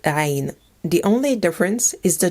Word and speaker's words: عين: This sound comes from the very back of the throat. When trying to pronounce this letter, imagine that you're trying to connect all your vocal folds together.